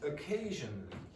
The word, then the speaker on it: occasionally: So you get occasionally. Occasionally. So you see this, or you hear that here, and you also hear it here. So the pronunciation of this is not sh, it's zh, like that.